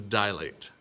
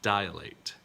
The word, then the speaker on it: dilate: what is this one this is dilate this is not dilate right same kind of idea